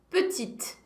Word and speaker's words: petite: Le féminin, aí é só acrescentar um eu depois, e aí eu passo a pronunciar a consoante que veio antes. Grande, petite.